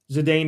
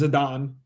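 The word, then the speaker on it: Zidane: Zedane is Zadon.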